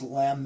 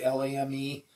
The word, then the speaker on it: lame: And then this is a lovely tool called, I think it's pronounced lame. It's a French word, L-A-M-E.